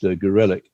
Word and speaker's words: Gorelick: won't remember that Jamie Gorelick or Gorelick, I think she prefers for obvious reasons her name to be pronounced Gorelick.